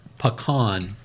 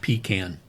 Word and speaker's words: pecan: No, that it's pecan, not pecan. I've been told there's a meme that shows a can of peas. That's a pecan. The proper pronunciation is pecan. Okay. So I've decided that's a northern versus southern thing. If you're from the south, you say pecan, and if you're from